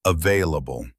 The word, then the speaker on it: available: Some people do say the L a bit stronger, but the standard way is available. The L is soft. Try to keep it light and smooth.